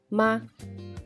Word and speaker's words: 吗: Vamos a practicar la pronunciación de ma. Me, a, ma. Esa es la primera que hemos conocido el quinto tono, que no hay sonido.